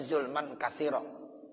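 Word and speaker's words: ظلما كثيرا: Tapi mu'zamur riwayat yang terbesar bacanya zulman kasiro, walaupun nanti ada dalam riwayat sebagian ya itu zulman kabiro, sama aja sih artinya.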